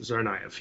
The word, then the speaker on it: Tsarnaev: That's how it's pronounced. Tsarnaev, yes.